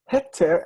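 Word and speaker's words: היתר: But in fact, it's heter and the yud is silent.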